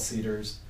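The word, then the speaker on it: CDARS: banks that do it it's called Cedars how do you spell it's it's a it's an acronym and don't quote me on what the acronym stands for but it's CD ARS they call it Cedars it's a way to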